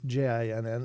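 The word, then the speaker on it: Djinn: Uh, it's not spelled J I N. It's DJ, but I I think the D and the J are just still Jin like that.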